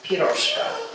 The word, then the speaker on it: Piroska: It's the accent is on the first syllable. It's Piroska, not Piroska. It's Piroska.